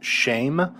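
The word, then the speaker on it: שֵׁם: we have here is shame it sounds just like the english word shame it's the word for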